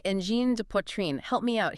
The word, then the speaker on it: Angine: It's pronounced N Gène. N Gène. So, N like a soft, almost nasal sound. Exactly. And Gène with a soft G like the start of the word vision.